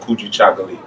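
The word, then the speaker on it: Kujichagulia: which is actualization relates itself to self-determination of coochie chocolate i'll spell that one for you k-u-j-i c-h-a g-u-l-i-a justice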